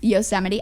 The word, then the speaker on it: Yosemite: on august 30th saying no service and uh pronounce the name yes yosemite yosemite guys yosemite national park and how does